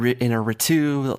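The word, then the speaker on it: Iñárritu: n y a r that second part is where the emphasis goes and that's the most important part so Allandra Gonzalez inaru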